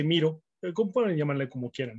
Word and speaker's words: Miro: A veces le dicen Miro, pero recordemos que Miro lleva acento en la O y es francés. Esta es una herramienta de Estados Unidos y se dice Miro.